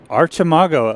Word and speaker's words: Archimago: I pronounce it Archimago. Okay. Yeah, I don't know. I can't say the arc. Uh-huh. I have to say arch, like Archmage. Yeah. But I'm okay switching to Mago.